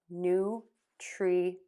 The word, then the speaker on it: nutrient: Nutrient, nutrient, nutrient, nutrient.